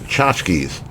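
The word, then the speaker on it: tchotchke: dedicated to items as chachkies pronounced chachkies wait wait is it phonetically spelled out well the way it's yes but the way it's spelled is not how it's pronounced but it's pronounced chachki I mean I'm just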